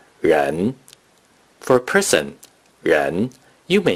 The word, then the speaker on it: 人: The noun for person or persons in Mandarin Chinese is pronounced ren.